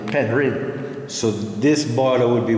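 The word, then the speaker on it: Penrhyn: P-E-N-R-H-Y-N. Mm-hmm. That was so it's spelled. These days people say Penryn, mm-hmm. but it's actually Penryn.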